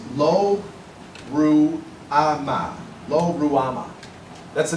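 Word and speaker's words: Lo-Ruhamah: Child 2 is born, and this child, the actual name, and I'm going to try to pronounce it in the Hebrew, is Lo Ruama.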